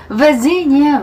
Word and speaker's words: Virginia: West Virginia. Virginia. V 발음.